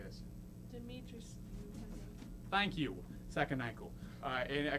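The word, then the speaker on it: Dimitrescu: Lady Deitrisu. I don't know. How do you say this? Demetrius.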